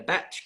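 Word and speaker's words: bach: Uh and you can stay there in a batch. How do you how do you pronounce that? Batch. Batch. Batch. A batch. Yeah. Which is a bac as opposed to a bat t a batch of gin thing.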